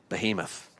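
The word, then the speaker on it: בהמות: that word behemoth um so in Hebrew that's behemot which is interesting because it's the plural form form of beema and beema means cattle we can see this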